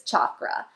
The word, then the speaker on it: chakra: pronounce the word so it is pronounced with a hard ch like you would say in chair so it's chakra in my yoga teacher training i learned that when you say chakra it actually apparently when